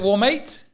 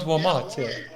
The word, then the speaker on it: Warmate: this war s how how do you say your name is it warmate wmart yeah warmate yeah warmate see not wmart love it love your